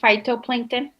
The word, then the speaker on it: phytoplankton: Phytoplankton? It's pronounced, yes, phytoplankton. It's one word.